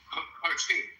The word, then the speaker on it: Khartoum: Khartoum? It's in Khartoum. Khartoum? Oh, the ancient city of Khartoum. Kartum, I think. It's KHART. Oh, God. I badly misspelled it. Wait, say it again. Khartoum. No, spell it again.